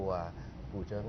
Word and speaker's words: กู่เจิง: ครับ กูเจิ้ง นะ ครับ ออก เสียง กูเจิ้ง หรือ กูเจิง ครับ กูโร กูเจิง ครับ กูเจิง นะ ครับ มัน เป็น ดนตรี เป็น